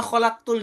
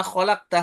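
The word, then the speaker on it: خَلَقْتَ: Seperti hanya di sini wa ma rabbana ma khalaqta hadza batila. Aslinya khalaqta, sebaliknya yang kayak tadi ya. Dibaca dengan khalaqtu. Ta itu anta ya domirnya. Tu itu aku.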